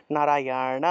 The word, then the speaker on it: নারায়ণ: যে মূর্ধন্য আছে না মূর্ধন্যের উচ্চারণটা হবে নারায়ণা অর্থাৎ জিউভা উল্টিয়ে মূর্ধা স্পর্শ করতে হবে তাহলে নারায়ণা জিউভা উল্টিয়ে ন উচ্চারণ নারায়ণা নারায়ণা তারপরেরটা হলো নারায়ণ